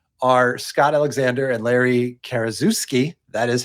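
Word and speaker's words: Karaszewski: and the writers are Scott Alexander and Larry KUSI that is how you pronounce his last name and they have since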